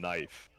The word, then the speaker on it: knife: Knight and knife. Oh like uh seriously we we over pronounce the K in every occasion we get and you just dismiss it entirely.